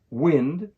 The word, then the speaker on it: wind: words wind and wind wind refers to the movement of air the wind is very strong today this is the short I sound the verb wind means to twist or turn something for instance you can wind a clock this uses the long I sound you will hear the